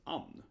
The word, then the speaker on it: Ann: This name here is Ann. I think it's a pretty common mistake, people say, it's Anne, probably.